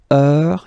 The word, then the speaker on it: heure: All right, so heure, you write it like that. Remember, H is not pronounced, okay? So it goes like heure.